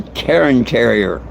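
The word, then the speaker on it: Cairn Terrier: They look like a wild terrier, but they're this breed is called a Karen Terrier, uh, spelled with a C instead of a K.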